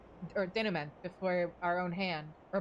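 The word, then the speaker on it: denouement: Which is why we must bring this tale to its uh denom or denment before our own hand or by our own hand. I don't think that T is supposed to be pronounced, but oh well.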